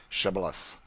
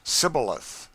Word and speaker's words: Shibboleth: let none pass who could not say Shibboleth. The Ephraimites, being of a different tribe, could not frame to pronounce the word right, but called it Sibboleth, which proved them enemies and cost them their lives.